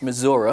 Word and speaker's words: Missouri: years ago uh a congressman from the midwest missouri which is a proper pronunciation uh who after hearing uh a previous